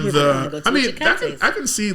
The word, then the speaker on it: Cheakaity: next Cheakaity.